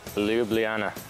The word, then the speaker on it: Ljubljana: Why can't North Americans say lj, like Ljubljana? Ljubljana.